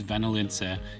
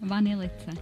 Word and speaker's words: vanilice: Also, these homemade Serbian cookies that I really struggled to pronounce were really nice. Serbian cookies, vanilice. You have jam. Again, vanilice.